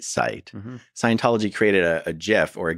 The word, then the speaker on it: GIF: Scientology created a GIF or a GIF. How do you say it? What's the right way to say it? The correct way is GIF.